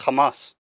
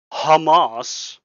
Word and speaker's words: Hamas: That's how you say their name. It's Kamas. I'm sorry you can't pronounce the inas, but that is literally their name. Kamas.